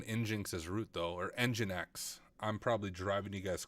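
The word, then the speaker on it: nginx: we can run inin as rout though or engine X I'm probably driving you guys crazy when I call it in Jinx I know it's pronounced engine X so once again don't make fun of me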